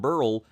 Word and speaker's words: Beryl: great guy he said the correct pronunciation of tropical storm Burl is burl just like the last name of Milton burl so if you hear